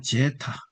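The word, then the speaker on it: ζῆτα: 그다음에 제타 제타 제타 제타는 제타 제타는 영어의 제뜸에 제트면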